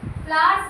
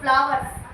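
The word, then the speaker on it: flowers: फ्लावर्स बोलते हैं इसको, क्या बोलते हैं? फ्लावर्स, नॉट फ्लावर्स। डब्ल्यू का प्रोनाउंसिएशन मैक्स एकदम कम से कम होता है, तो यहाँ पे इसको साइलेंट ही मान के चलते हैं।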